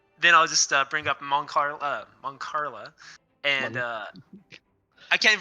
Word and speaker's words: Mancala: Then I'll just bring up Moncarla, and I can't even pronounce it. Mancala. Moncala. Like calamari.